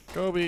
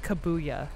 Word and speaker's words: Kobe: Kobe. Oh, he tried to say his name, and he said, like, Kabuya.